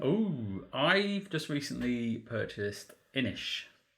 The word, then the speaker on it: Inis: Oh, I've just recently purchased Inish, which is spelled Innis. But it's Inish.